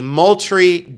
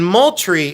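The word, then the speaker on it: Moultrie: This is from the Moltry Guard. And Moltry is spelled just like it sounds.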